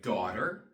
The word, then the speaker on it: daughter: we have words like daughter eha and we have words like neighbor Vino and in those words too the GH is silent you do not pronounce the GH also as we learn